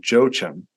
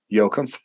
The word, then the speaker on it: Jochum: name this whole time it's not Joe Chum it's Yoakum it's Yokum yeah yeah yeah that's ever